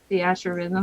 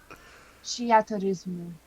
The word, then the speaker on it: Theatrhythm: I say Theatrhythm.